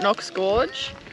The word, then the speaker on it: Knox Gorge: I'm pretty sure it's pronounced Knox. Have a look at the spelling. Tell me that that's not a K. Hey? No, I'm just yanking your chain. It's pronounced Knox Gorge.